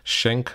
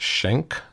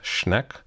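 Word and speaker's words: Schenck: for the AP exam shank versus us it's pronounced shank not Schneck I don't know why people can't read that it's shank vs.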